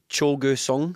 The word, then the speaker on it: Cho Gue-sung: big zombie though uh cholga song I think is how you pronounce it um I I don't